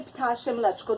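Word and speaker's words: ptasie mleczko: Well, you say ptashem mleczko. That means bird's milk.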